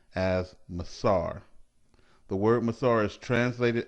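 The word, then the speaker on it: מעשר: its meaning from the hebrew word which is pronounced as masar the word masar is translated as tithe throughout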